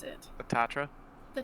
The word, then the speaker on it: Tatra: I don't remember how to pronounce it. The Tatra? The Tatra.